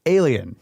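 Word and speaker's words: Aelian: And so I'm not sure how to pronounce this guy's name, but it kind of sounds like alien.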